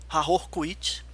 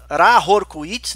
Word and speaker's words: Ra Hoor Khuit: agraciada com a presença do Senhor do Eon, Hahor Kuit. Opa! E o próprio, né, Rahor Kuit, né? Acredito eu que deve ser uma pronúncia mais Tomara legal.